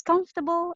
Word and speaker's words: comfortable: Like for example, the most common mispronounced English word, comfortable. It's comfortable and uncomfortable. I even checked it. It's actually my pet peeve. I checked sorry, Cambridge and also some other dictionaries. It's really comfortable, whether it's an English,